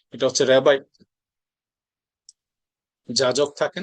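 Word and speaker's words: Rabbi: এটা উচ্চারণটা রাব্বি হবে না। এটা কেউ বলে উচ্চারণ রাব্বি করবেন না। এটা হচ্ছে রেবাই যাজক থাকে না।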